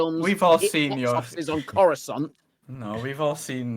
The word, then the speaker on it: Coruscant: We've all seen We've all seen your on Coruscant. No, we've all seen how well I'm sorry, it's pronounced Coruscant.